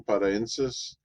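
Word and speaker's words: paraenesis: I've pronounced it a little bit better this time, paraensis.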